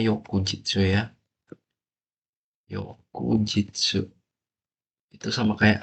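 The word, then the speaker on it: 翌日: Bacanya Yokujitsu ya.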